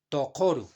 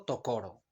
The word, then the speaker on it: tokoru: Tokoru aquí. Tokoru, no tokoro.